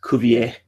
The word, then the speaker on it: Cuvier: So Cuvier he's a French guy, and he was doing, I'm saying his name wrong because he's French, Cuvier.